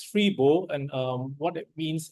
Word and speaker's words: Freeboh: local phrase in Singapore it's actually pronounced as free bow and um what it